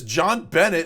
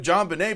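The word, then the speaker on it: JonBenét: Night johnette P is aggravating she repeatedly says John Bennett instead of John Benet pronounced Benet if you're going to narrate a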